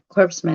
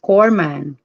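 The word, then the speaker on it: corpsman: let's read it again corpse man is pronounced core man okay cool man the p is a silent hi carmen the old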